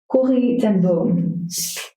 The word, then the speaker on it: Corrie ten Boom: Corrie ten Boom.